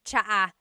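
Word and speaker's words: tsaa: And it's spelled T S A. Cha. Cha. That's such a Tagalog spelling. I love it. There's the TS sound and then the double vowel uh pronunciation.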